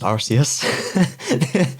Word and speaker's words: Arceus: of the hidden pokemon yeah now the it's pronounced arceus and yeah all throughout the presentation they all